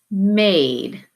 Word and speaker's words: made: As soon as I put my silent E on the end, now my word says made, and I have my long A vowel sound. This closed syllable word says kit, but the vowel sound changes with that silent E.